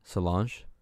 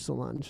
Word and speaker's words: Solange: singing is that how you say her name solange yeah solange is singing in this yeah and her voice